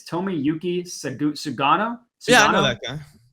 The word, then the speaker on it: Tomoyuki Sugano: The pitching matchup, nobody knows this guy, and I'm going to pronounce his name, and it's going to sound like I'm ordering a sushi roll, but it's Tomoyuki Sugano.